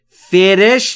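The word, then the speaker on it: fresh: فرش فرش یعنی تازه تلفظش دقت بکنید فرش نمیگم فرش بین اف و r صدای وجود نداره فرش یعنی تازه تر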